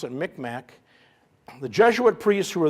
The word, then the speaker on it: Micmac: We pronounce it Micmac.